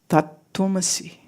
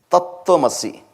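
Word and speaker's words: तत्त्वमसि: Can we YouTube search how it's pronounced? Tattvamasi. Tattvamasi.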